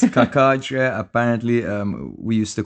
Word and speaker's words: Cacace: Liberatore Cacace. Cacace. Is it Cacace? Is it Chachache? Casace. Yeah. Sasase. It's Cacace.